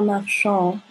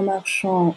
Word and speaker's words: marchand: récapitule premier cas un marchand on ne prononce pas le d un marchand une marchande une femme